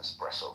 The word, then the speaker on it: espresso: Mohan, you're smart enough to know that it's spelled E SS, not ex I didn't ask you your opinion.